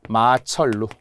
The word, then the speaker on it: 마천루: 마철루 그죠?